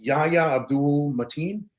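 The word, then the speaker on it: Yahya Abdul-Mateen: was Black Manta I I always say his name wrong it's Yaya Abdul matin he's black man in Aquaman movies okay and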